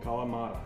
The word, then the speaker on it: Kalamata: gonna butcher the name, but I believe it's pronounced Kalamata Olives, is that right, babe? Kalamata.